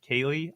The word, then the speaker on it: Keighley: Well, it's Geoff Keighley. Like, that's how it's spelled, and I'm supposed to read it Jeff Kaylee? Kaylee.